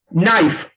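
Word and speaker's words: knife: नाइफ, नाइफ में भी यही काम करते हैं, हम लोग के को क्या कर लेंगे, साइलेंट कर लेंगे, क्योंकि एन से पहले आया है।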